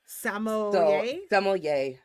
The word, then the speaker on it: sommelier: And I was like, I don't think we're saying it right, so I looked it up today and it's sommelier. Sommelier.